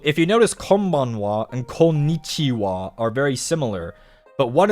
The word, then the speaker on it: こんにちは: Konnichiwa is hello. And look, see this? Here, the ha は is pronounced as は wa. Konnichiwa.